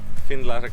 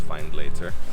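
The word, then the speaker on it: Findlater: it to the spot finland castle behind me over there spelled find later and i think it should be pronounced fine later but so it looks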